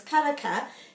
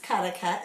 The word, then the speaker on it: Karaka: karaka for orange so if orange is karaka then the place karaka is pronounced the same ka it